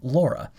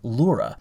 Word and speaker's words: Laura: say to phonetically pronounce the word or the name laura now if you noticed in my previous videos i was saying lura and that's because they just recently made this adjustment because their old pronunciation guide said that do you see it right here that's how they said to pronounce that name so i apologize if